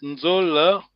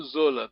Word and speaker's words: Nzola: When you say the word Nzola, be careful because this is the how to say it, connotation. Yes, Nzola. You know Zola. People are lazy. You know. Isaiah. Okay, so there's a nasal.